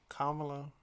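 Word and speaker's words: Kamala: And I feel like that was what uh Miss uh Kamla I said it right. Right. I used to say it wrong.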